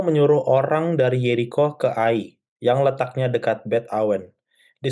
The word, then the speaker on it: Ai: Ya, perhatikan di sini bahwa ee Israel dikalahkan oleh ee AI ya, jangan Ei bacanya ya. Israel dikalahkan oleh A.